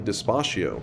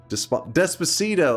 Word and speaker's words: Despacito: They said to play Dispacio. Dispacio. Despacio. Something like that. That's that meme song. Wait, what? How is it pronounced? Despacito.